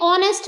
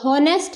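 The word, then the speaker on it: honest: ही एन ऑनेस्ट मैन तो यहां पर भी हमने ऑनेस्ट बोला नेस्ट नहीं बोला ऑनेस्ट इसको हम बोल रहे हैं तो ओ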